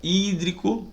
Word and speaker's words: hídrico: Hídrico, propaloxítona, tá certo? Acentuada aí sua antepenúltima sílaba, para que seja colocado o nome do ácido, inicia-se com ácido, terminação hídrico para esse hidrácido, beleza?